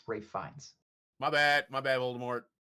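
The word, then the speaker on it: Ralph Fiennes: It it's it's Rafe Fines. Oh, that's how it is. That's how you pronounce it. It's Rafe Fines.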